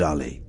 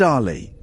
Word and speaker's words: Ali: not Ali Bongo Muhammad Ali no but it's not Ali it's Ali Ali Muhammad Ali the